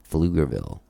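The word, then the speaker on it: Pflugerville: her release party in flugerville silent p baby silent p silent p and uh and and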